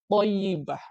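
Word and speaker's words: طيبة: baik atau kalimat thayibah jadi ini tulisannya memang tayibah tapi di bawah t-nya itu ada titik kecil itu bacanya th thyibah ya Kelebihan dari kalimat thayibah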